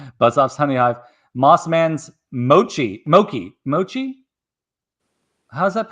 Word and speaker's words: mochi: Mossman's Mochi. How's that pronounced?